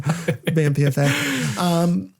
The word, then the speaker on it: BAMPFA: And you were correct in your pronunciation, BAMPFA.